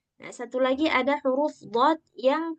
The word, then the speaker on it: ض: Nah, satu lagi ada huruf dad yang kebanyakan orang ketika menyebutkan huruf dod itu lidahnya yang dari tepi pindah ke ujung sehingga suaranya bunyi d.